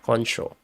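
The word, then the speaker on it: Concio: Kono c o n c i o yeah Kono so how many points does Michael koncho have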